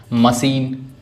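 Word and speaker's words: machine: Next I को ई भी पढ़ती हैं, long sound, मशीन, police, मैगजीन।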